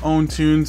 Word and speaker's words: PwnTunes: i've got for you guys today is called own tunes it's spelled p-w-n-t-u-n-e-s this one's a whopping 12.99 it